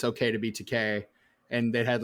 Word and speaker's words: Takei: Yeah, I think that was George Takei in that. And I realized that as soon as I said that. Takei rhymes with Same gay. thing.